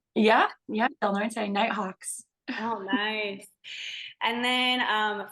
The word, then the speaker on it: Del Norte: Is that how you say it, Del Norte? Yeah, Del Norte Nighthawks.